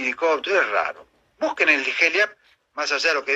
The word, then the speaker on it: Heliap: Es HELIAP. Ciudad Heliap, se pronuncia así, se escribe HELIAP, y pueden encontrar algo, está bueno lo de tus oyentes.